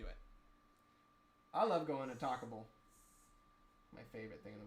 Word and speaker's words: Taco Bell: I used to pronounce it talkable. No fucking way. I used to pronounce it talkable.